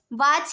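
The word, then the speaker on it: watch: पास silent है वाच वाच के अंदर टी आ गया साइलेंट विच टी मैच टी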